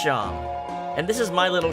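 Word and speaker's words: Seam: The name's Sham, pronounced Sham.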